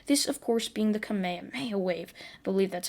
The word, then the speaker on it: kamehameha: to a zooku this of course being the kamehameha wave i believe that's how you pronounce it so izuku would power up before